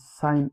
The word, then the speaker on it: sin: Mind you it is pronounced out out sign again as sign again sine in short form is sign again.